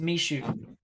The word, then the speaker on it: Michoud: It's pronounced Michoud.